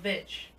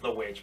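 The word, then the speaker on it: The VVitch: So Vitch. Yeah, yeah. Like, you have to do the most. But it is pronounced The Witch, but it's weird.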